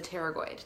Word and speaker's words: pterygoid: Just know that the 2 main muscles that we're working with in the jaw is the masseter and the pterygoid. Pterygoid spelled like a T, like pterodactyl.